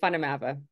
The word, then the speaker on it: Van der Merwe: I pronounce it Van der Merwe here, but in South Africa, they would kill me for that. So in South Africa, we say Van der Merwe.